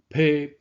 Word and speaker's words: 驫: 这字读披，将马奔驰的意思。披的读音才会甲马较歪音，安尼读才会形音义相符。